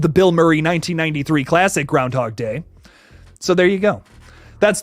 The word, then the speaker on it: Groundhog Day: out on Friday for Groundhog Day which it is groundhog day not Groundhogs Day I have been saying it wrong my entire life ladies and gentlemen but